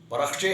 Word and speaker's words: پرخچے: اور وہ ہے پرخچے۔ اس کا درست لفظ پرخچے ہے، جبکہ اکثر پڑھے لکھے لوگ یا تعلیم یافتہ صاحب بھی اس کو پرخچے پڑھتے ہیں، تو درست لفظ ہے، تلفظ ہے اس کا پرخچے۔ ایسے ہی ایک لفظ